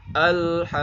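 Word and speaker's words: الحاقة: Ha asalnya 2 harokat. Ketemu sama qaf yang bertasydid. Maka kalau ada mad ketemu sama huruf yang bertasydid maka panjangnya wajib 6 harokat. Al-haqqah. Al-haqqah. Kemudian ada tekanan juga. Ketika di setelah 6 harokat itu ada tekanan karena ketemu yang tasydid. Al-haqqah. Al-haqqah. Seperti itu.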